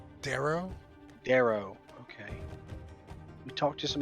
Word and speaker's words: drow: other uh how do you say their name dro drowie darrow darrow okay we talked to some other darrow and